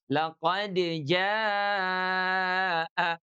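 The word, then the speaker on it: لقد جاء: Jadi izharnya qalqalah di sini. Qalqalah dan izhar. Jadi bacanya laqad jaa laqad jaa.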